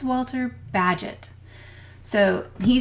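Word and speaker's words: Bagehot: quote tonight is by Walter badget it rhymes with Gadget so if you want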